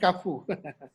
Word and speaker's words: Carrefour: Carrefour is pronounced Carrefour.